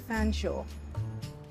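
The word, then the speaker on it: Featherstonehaugh: name was Jane and Shaw is how you pronounce the end of fan Shaw why in the world would you pronounce something spelled feather Stone ha fsha I'm sorry that's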